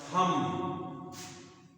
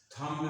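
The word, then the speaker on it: thumb: होता टॉम और टॉम थम थम में ये ब का उच्चारण नहीं होता थम बोलते थाम थाम बोलते है थम थाम नहीं बोलते थम थम थम तो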